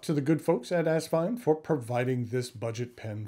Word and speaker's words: Asvine: is asvine uh as one of the original logos for the brand had an actual Vine Incorporated in it uh for years when